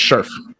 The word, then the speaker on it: Scherf: I can never know how to pronounce his name. Sheriff. Brendan Scherf. There you go. It's Scherf.